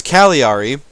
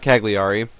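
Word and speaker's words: Cagliari: infantry here in uh apparently it's calari not kagari uh so I apologize for that I'll I'll attempt to remember to pronounce it that way but we have enough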